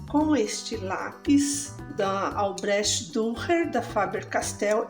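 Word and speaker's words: Dürer: este lápis da albrech durer da Faber Castel é a linha albret duer durer se pronuncia eu estou usando esses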